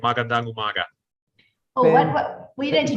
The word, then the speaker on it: magandang umaga: Slowly, That's magandang umaga.